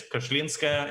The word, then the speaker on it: Kashlinskaya: It's Kashlinskaya is the proper pronunciation. Kashlinskaya. I always say Kashlinskaya, but Kashlinskaya. Yeah, but it basically, you know, most Russian names sound long, but you pronounce them how it's spelled.